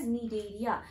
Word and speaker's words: Cnidaria: The C is silent. We term them as cnidaria.